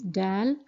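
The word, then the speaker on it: دال: So the letter name is Dal, and the phonetic sound is Da, and it's pronounced in the same way as the English D is pronounced.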